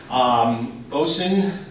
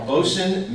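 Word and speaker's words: boatswain: we're privileged to have as our speakers today bosun I got a right now bosun mate and I pronounced it I learned that this morning bosun made first class Patrick talent and bosun mate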